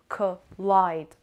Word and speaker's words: collide: number three collide collide collide the stress on the second syllable and the sound of oh here is schewe collide